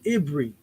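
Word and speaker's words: עברי: concordances by Barbie or ibri it pronounces this y as an i ibri so I Barry so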